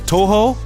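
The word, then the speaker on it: Touhou: Like doesn't this sound like a uh what how do you say a toho to o u h o a toho song?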